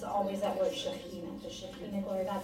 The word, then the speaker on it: Shekinah: My question is, how do you pronounce S-H, apostrophe K? Shekinah, for those who can't do that, Shekinah, that's the glory of God.